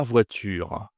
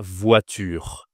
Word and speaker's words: voiture: Le o i en français, on dit wa.